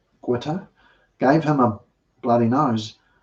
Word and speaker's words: Goethe: In 1722, the father quarrelled with a Captain Goethe, not Goethe, Goethe, gave him a bloody nose, was summoned by